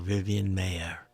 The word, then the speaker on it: Vivian Maier: Today we're covering the photographer Vivian Maier, or Vivian Maier, as some people pronounce.